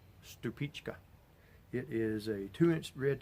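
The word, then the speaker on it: Stupice: You know, you're not going to put it on a sandwich or anything, but it's spelled like Stupis, S-T-U-P-I-C-E, but it's actually called Stupichka.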